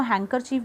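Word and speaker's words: handkerchief: please remember word में hand कर चीफ है, डी आता है, बोलते वक्त हम इसको हैंकर चीफ बोल देते हैं, तो जब आप पेपर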